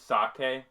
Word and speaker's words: sake: Is it pronounced sake or sake? It's sake.